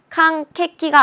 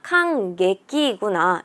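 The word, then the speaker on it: 感激: 자, 여기에 타금이 있구나. 캉케끼가 아니라 캉예끼구나.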